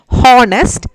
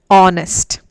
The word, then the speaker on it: honest: in this word likewise honest we don't say it as honest that is wrong pronunciation h is silent we have to pronounce it as honest o should be given